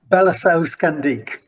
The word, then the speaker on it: Balasausqandiq: I'm not going to try and pres pr pronounce the name of your project. Help me out with it. What is it? Belliscand.